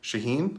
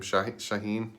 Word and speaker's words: Shaheen: to the chicago base for tight ed adam shaheen i think that's how you say his name shaheen shaheen shaheen s-h-a-h-e-e-n shaheen um second-round pick with chicago three